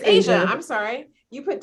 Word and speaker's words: Aja: Aja put 2, and am I saying it right? Is she put 2? It's Asia. It's Asia.